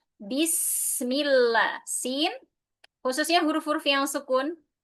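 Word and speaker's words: بسم الله: Hati-hati ba dibaca dengan jelas. Bi bukan bis tapi bi ya. Bismillah.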